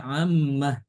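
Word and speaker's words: عَمَّ: Fima FIM mimma Khuli jadinya mimmah Amma yatasaalun dibacanya ammah kalau wakaf lima talbisun lima Bima yarjiul dibacanya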